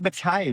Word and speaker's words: Mackay: And it's Mackay, not Mackay.